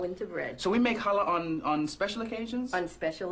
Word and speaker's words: challah: And today, we're going to make some traditional Jewish delicacies, and we're going to start with challah.